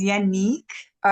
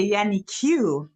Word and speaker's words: Yanique: So, obviously, my name is Yanni Q. Okay. But she used to say Yanni Q based on how it's spelled, y a n i q u e, yeah.